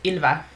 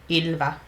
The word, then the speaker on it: Ilva: Oh, but I should say my name is pronounced Ilva, so there's like Ilva. It's a weird wise pronunciation that a lot of people can't do, especially if I say, "Oh, hi, my name's Ilva."